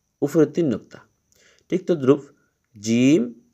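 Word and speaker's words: ج: এটা আমরা মনে রাখবো জিম জিম জিম জিমটা একটু শক্ত করে উচ্চারিত হবে একটু শক্ত করে জিমের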